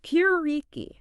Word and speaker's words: Puritii: interesting today we're going to be talking about purti purti yeah it's a brand it's pronounced purei purei and we're going to be looking at